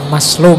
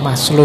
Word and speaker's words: Maslow: Jadi moralitas itu kalau di Maslow, Abraham Maslow, ini bukan Maslow membacanya. Maslow itu nama, jangan dibaca Mas itu ya. Maslow itu rendah, jadi Mas yang kelas rendah.